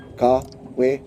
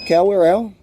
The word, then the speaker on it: Kawerau: after me car weird no come we're hello car we're okay Kyle we're done it's not Carell and get over yourselves over the last part